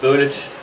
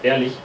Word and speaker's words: Berlich: My name is Berlich, or Berlich, as I've heard it pronounced here quite often, but it's actually pronounced Berlich.